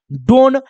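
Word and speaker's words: done: एन को क्या पढ़िएगा, न, इसको क्या होना चाहिए था, डोन, बट इसका उच्चारण डोन नहीं डन होता है, तो ये एक्सेप्शन आपको याद रखना होगा।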